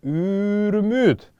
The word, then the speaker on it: юрмют: изучали, я объяснял это, во множественном числе будет приобретать звучание «юрмют». «Юрмют». Вот эта буква «ю», она будет здесь становиться долгой.